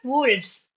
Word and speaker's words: wolves: So, wolf, wolves, shelf, shelves pronunciation, wolf sound, wolf. But when you change it into plural, it becomes wolves. Wolves. Okay. V, it changes to v sound.